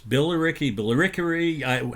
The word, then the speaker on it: Billericay: It's Billericay.